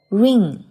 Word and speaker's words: wring: coat Bristle Insect Worm Ring WRING W 不发音，所以是 ring Pest Pesticide Parasite Spider